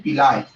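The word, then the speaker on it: pili: Okay, membranes extension, membranes extension जो पिलिन protein से बनते हैं, इनको हम बोलते हैं पिलाय। ओके, पिलाय, कुछ लोग पीली भी टर्म देते हैं, प्रोनाउंस करते हैं।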